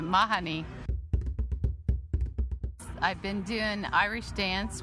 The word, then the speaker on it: Mahoney: Well, it's pronounced Mahoney here, but in Ireland they pronounce it Mahoney.